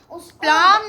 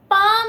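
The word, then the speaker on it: palm: ज्यादा होता है ना जो प्लाम नहीं होता वो पाम होता है guys पाम पी एल एम होता है। हां तो एल साइलेंट होता है।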